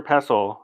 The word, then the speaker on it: pestle: Mortar pestle. Somebody finally told me the T is silent on that word.